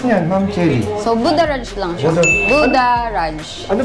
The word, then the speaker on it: Buddharage: po Oo ayan So ano ba Paano ba pagkabigkas niyan Ma'am Chelly so budha rage lang siya budha Raj Ano bang ano niyang